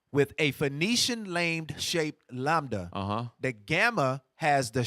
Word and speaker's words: lambda: Okay, so just for time's sake, so lambda actually is a Greek word, and it makes the V sound.